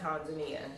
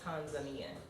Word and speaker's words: Tanzania: to pronounce things like tanzania so it's not tanzania because they don't have an a sound they have an eye so it's tanzanian if you say it